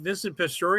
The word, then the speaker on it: Vincent Pastore: Vincent Pastore, is that it?